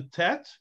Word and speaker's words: tet: have this one that called the tet pronounced like t as in tall and the last letter